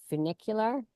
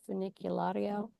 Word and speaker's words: funicular: I walked about halfway and then I decided to take the toggle train, the funicular. Is that how you say it in English? Funiculario?